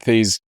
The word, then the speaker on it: Thies: I'm glad that Thies told us how to pronounce his name. Apparently it's thesis, but without the is at the end.